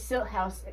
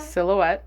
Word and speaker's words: silhouette: Furby's silt house. I always read it as silt house. How do you read that? Silhouette.